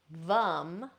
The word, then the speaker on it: vam: Okay, so lum for the root, vam for the sacral chakra.